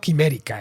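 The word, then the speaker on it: Chimerica: fortuna, por cierto, que el neologismo es chimérica, pronunciado quimérica, eso sí, lo que llevaba a pensar, si lo pronunciabas como lo pronuncian en inglés, en quimera.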